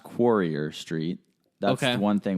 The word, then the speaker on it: Quarrier: It's pronounced Quarrier Street.